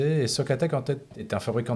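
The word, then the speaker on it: SOCATEC: c'est un presspier qui est fait par l'entreprise socateek comme ça se prononce s o C A T e C et socateek en tête est un fabricant de maquette qui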